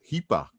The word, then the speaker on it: Heipa: Hipa.